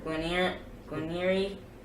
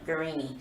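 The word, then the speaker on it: Guerini: So next gun is the Caesar Guarnieri. I think I pronounced it wrong. Guarnieri, sorry.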